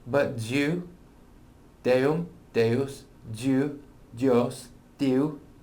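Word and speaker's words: Duw: Anna da creada roedd y gair gira diw, a diw oedd y gair. Notice diw, right? So the rest of that, other than and diw, I don't think we have any more Latin there, right? But diw, deum, deus, diw, dios, diw, right?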